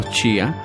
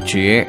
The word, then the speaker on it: Chía: El topónimo Chía, también pronunciado como Chie en Muiscubún, idioma Muisca, significa luna, aunque también tiene los significados de luz, brillo, resplandor o ardor.